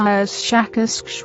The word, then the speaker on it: Shakas: us something like sh shakas with a very very strong pronunciation of the sh and K sounds we have no for